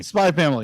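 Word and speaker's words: SPY×FAMILY: called uh spy family spy family the x is silent oh okay it is there for stylistic reasons alone okay gotcha uh we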